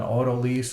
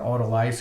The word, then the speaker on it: autolyse: And that's called an autolyse or an autolyse. You'll hear it pronounced that way.